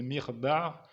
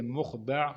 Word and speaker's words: مخدع: On a la possibilité d'ailleurs de prononcer mirda' comme on peut le prononcer mukhda' ou encore makhda'.